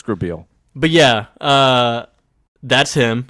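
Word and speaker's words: Grabeel: cuz it's spelled weird it's grab eel like it's spelled like an eel at the end okay it is a white name then yeah Grabel Lucas grael it's grael but yeah uh that's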